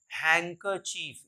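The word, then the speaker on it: handkerchief: एच आई ई ए इसमें भी my real नर हैकर चीफ यहां पर भी डी का साउंड नहीं होता यहां पर भी डी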